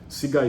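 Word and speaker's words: SIGA: It's called the Sega. Sega is spelled S I G A.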